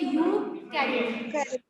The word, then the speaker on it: Eukaryotic: उसको बोलेंगे ईयू, जैसे यूरोप होता है, जैसे यूकैरियोटिक. ई साइलेंट. यूकैरियोटिक.